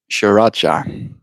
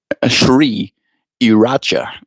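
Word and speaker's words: Sriracha: We got into an argument before at work on how to pronounce Shiracha. Did I say it right? Shri Iracha. Shri Iracha? Shiracha. That's the way I say it, at least.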